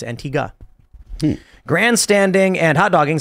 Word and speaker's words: Antigua: grab some more Stanford says it's pronounced Antiga there you go not Antigua it's Antiga Grand standing and hot